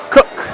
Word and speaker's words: Koch: He's a brother of their starting guard, Jay Strom, as well as Logan Cook. It looks like Koch, but they told me it's pronounced Cook, so I'm going with what they told me.